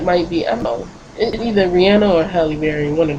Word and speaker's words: Rihanna: picture of piano and don't say I'm saying her name wrong because she says her name like that her name is Rihanna so I picture of